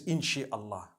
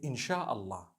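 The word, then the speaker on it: إن شاء الله: Inshi means to create. No one says inshi Allah. They say insha'Allah. That's what it is.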